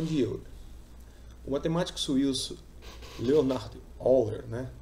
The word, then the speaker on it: Euler: certo a relação de Euro matemático suíço Leonardo Power né pronuncia-se no alemão né já que ele era